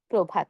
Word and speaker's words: প্রভাত: দেখুন, শব্দের শুরুতে যদি অধ্বনি থাকে, যেমন ধরুন প একটি অধ্বনি। আর সেই অধ্বনির সঙ্গে যদি রফলা থাকে, তাহলে আমরা সেখানে এর উচ্চারণটা এর মতো করে বলব।